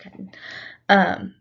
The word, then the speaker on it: chiton: Sorry, it's pronounced chitin.